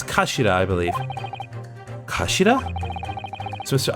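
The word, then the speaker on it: 頭: It's written as a head in Japanese, but it's pronounced as kashira, I believe.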